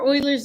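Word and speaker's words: Euler: So E stands for Oilers's number. I know it sounds like I'm saying oil, but his name is like German or something and it's spelled EU L E something.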